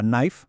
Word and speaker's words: knife: A que sí ves la palabra knife, cuchillo. Y es que es inevitable, el cerebro va directo a pronunciar esa K, pero no zas se esfuma.